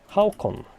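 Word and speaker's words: Håkon: I mean, the letter O, this one, is not really in the English alphabet, so it's potentially... I understand it can be a bit difficult for non-Nordics to pronounce. Hakon.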